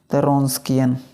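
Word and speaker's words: Wronskian: लेंगे क्या होता है रस्किन रन स्कियन रन स्कियन रस्किन determinate ये डब्लू साइलेंट होता है ठीक है इसका वैल्यू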